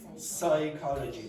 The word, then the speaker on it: psychology: Psychology. Don't go psy.